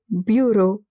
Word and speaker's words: bureau: Remember this combination E A U, it is always pronounced as O. So bureau.